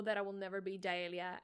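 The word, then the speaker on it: Yaelia: cannot pronounce my birth given name which is jaelia and it's spelled y a e l i a j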